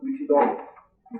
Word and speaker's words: Huitzilopochtli: Huitzilopochtli, they pronounce it Huitzilopochtli, the Aztec war god.